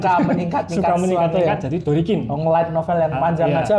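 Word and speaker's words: ドリキン: Iya, Dorikin. Kalau kita ngomong pelafalan secara lengkap kan Drift King kan kalau dilafalkan pakai Jepang kan terlalu panjang.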